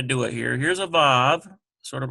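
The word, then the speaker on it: ו: So Vav is pronounced like V in vine.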